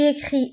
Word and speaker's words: écris: alors بالنسبة j'écris، tu écris، elle écrit، فلا terminaison كنكتبوها ب s ولكن ما كنطقوهاش.